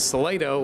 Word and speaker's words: Salato: keeping you in, come out here to the Salato Wildlife Education Center. Salato, I hear it pronounced a million ways. It is Salato Wildlife Education Center.